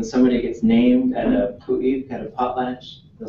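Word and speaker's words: ḵu.éex': Pu'ik. Pu'ik. Yep. And it's an underline K, letter U, period, E, X, apostrophe.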